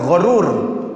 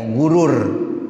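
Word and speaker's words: غَرور: gur oleh tipud daya gur dibaca fathah dia sama denganbur Syakur Nah itu dengan difathahan walaupun nanti ada lghah yang bacanya pakai domah ya gurur ya ada yang begitu tapi ini kurang Mashur jadi yang nya g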